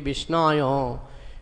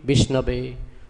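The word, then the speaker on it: विष्णवे: Murkha badati vishnayo dhira badati vishnabe ubhayastu shamang punyam bhavagrahi janardana.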